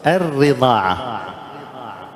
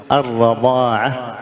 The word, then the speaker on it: الرضاعة: الصورة الثامنة إبدال حركة بحركة، مثل الرضاعة، بعضهم يخطئ يكسر الراء ويقول الرضاعة، في الآية القرآنية أتت بالفتح، كونها يعني يجوز لغة أو كذا هذا شيء آخر، لكن يعني تكلم عن النص القرآني أتت بالفتح، نقول الرضاعة وليس الرضاعة، إذا قلنا الرضاعة خطأ، اللحن جلي.